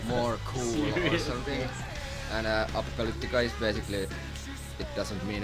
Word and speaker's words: Apocalyptica: But though we have now like a record company based in London and New York, none of them can pronounce Apocalyptica. It's Apocalyptica.